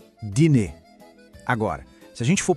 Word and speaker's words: dîner: A pronúncia é assim, ó, dîner.